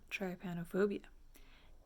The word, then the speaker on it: trypanophobia: we're gonna talk about tripanophobia i have tripanophobia and people pronounce it differently this is how i pronounce it because that's how it was said to me by a medical professional the first time basically it is a